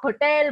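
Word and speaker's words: hotel: लेकिन अगर आप होटल बोलते हैं तो क्या होटल के आगे आप एच लगा सकते हैं, सॉरी एन लगा सकते हैं? नो मैम, नहीं लगा सकते, बिकॉज एच होटल एच से ही शुरू होता है, वहां पे हमारा एच साइलेंट नहीं है.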